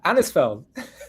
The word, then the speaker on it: Anisfeld: Andisfield or Andisfeld. Not. Yeah. Andisfeld. Okay. Okay. So, I got it right.